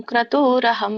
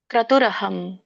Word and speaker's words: ಕ್ರತುರಹಂ: ಮಂತ್ರೋಹಂ ಅಹಮೇವಾಜ್ಯಂ ಅಹಮಗ್ನಿರಹಂ ಹುತಂ ಇದರೊಂದು ಉಚ್ಚಾರಣೆ ನೋಡೋಣ ಅಹಂ ಕ್ರತುರಹಂ ಕ್ರತುರಹಂ ಅಂದ್ರೆ ಬಿಡಿಸಿದಾಗ ಕ್ರತುರ್ ಕ್ರತು ಕ್ರತುಹು ಅಹಂ ಅಂತ ಬರುತ್ತೆ ರ ಇದ್ದದ್ದು ವಿಸರ್ಗಾಗಿ ಪರಿವರ್ತನೆ ಆಗುತ್ತೆ ಅಲ್ಲಿ ಕ್ರತುಹು ಅಹಂ ಅಂತ ಬರುತ್ತೆ ಕ್ರತುರಹಂ ಕೂಡಿ ಹೇಳಬಹುದು ಯಜ್ಞಹ ಸ್ವದಾಹಂ ಅಹಂ ಔಷದಂ ಅಂತ